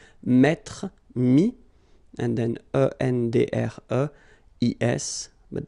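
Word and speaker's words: mis: And then mettre, to put, so ETTRE will give you this IS, mi, same thing here, final S is not pronounced, mi, okay.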